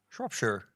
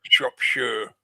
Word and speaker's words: Shropshire: Yeah. Not Shire. I mean, you can really. I learned the hard way. Sorry. You can really squeeze the vowels depending on your accent, but yeah, it's almost never pronounced Shire.